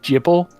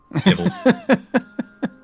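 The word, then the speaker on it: Gible: It's pronounced Jibble. No. Gibble.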